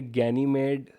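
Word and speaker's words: Ganymede: लो एक है कैलिस्टो एक है गेनीमेड या गैनी मेडी आप जैसे भी प्रोनाउंस करना चाहे उसके बाद एक है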